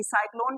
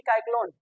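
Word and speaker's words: cyclone: एओ सेलो या केलो सी वाई सी एल ओ एन साइक्लोन की काइ क्लोन जहां कहीं भी सी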